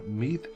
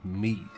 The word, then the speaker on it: Mide: So, and seemingly, our faction is called Mide. And yeah, I'm gonna go for the modern pronunciation, because otherwise it would be Mide. Something like this, the D with the DH, and yeah, so Mide is fine with me.